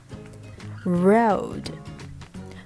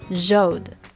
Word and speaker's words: road: they also make mistakes the sound is r r if you have ever heard a foreigner say zhongguo they will sound like chongoran run so these are different so rose road not jos jode rose first you have to round your lips rose and then make sure that your tongue is in the very middle part of your mouth rose road right the kangaroos got